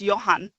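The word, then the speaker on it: Jan: And his name is spelled John, but pronounced Yan.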